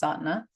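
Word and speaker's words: Sadhana: So from that space I end up finding satna Aquarian style satna. It's it's spelled sad sana but it's pronounced satna.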